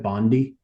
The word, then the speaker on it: Bondi: it Bondi is that how you say it Bondi yeah yeah it's a s Beach there yep